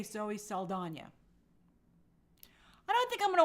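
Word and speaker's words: Saldaña: Zoe Saldana has requested her name be spelt and pronounced properly, like Saldana. Oh, well, thank you. And with the tilde, kind of like Tandaway Newton.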